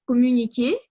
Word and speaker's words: communiquer: Aussi, en ce qui concerne la phonétique, j'ai trouvé communiquer. On lit cette syllabe comme mu.